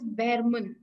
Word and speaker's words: Behrman: the main character related to the story is Behrman. Pronunciation Behrman.